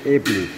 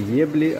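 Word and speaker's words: Ebly: Произносим как эбли. Не ебли, а эбли. Ну, на вкус именно такой, как и есть.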